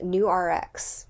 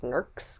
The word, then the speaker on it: Nurx: was a company called new RX yep I almost said nerks cuz that's how it's spelled it's nurx and no this episode